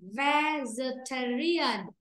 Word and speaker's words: vegetarian: Cô đọc là này, vegetarian, vegetarian, vegetarian. Vì vậy trong âm nó rơi âm 3. Còn âm thứ nhất là âm nhẹ.